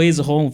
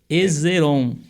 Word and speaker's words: Esrom: Então não ficou Esrom, ficou Ezeron.